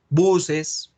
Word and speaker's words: bus: Aviones, buses. How do you say bus in English? How do you pronounce? Bus. Bus, con A, ¿cierto? Se escribe con U, se lee con A, bus, get.